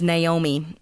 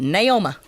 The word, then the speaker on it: Naomi: My grandmother, her name was Naomi, but being that they were from deep East Texas, my granddad pronounced it Naoma.